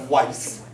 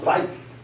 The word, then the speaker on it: Weiss: Or it might be pronounced Weiss. Or it might be pronounced Weiss. Sometimes they would pronounce the W like it's a V.